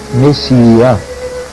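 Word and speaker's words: Messiaen: escreve messiã. M E S I a E messiaã, digamos assim, que se pronuncia messiã.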